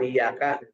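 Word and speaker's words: إِيَّاكَ: Jadi temenang baca nanti iya kan na'budu wa iyyaka harus iya.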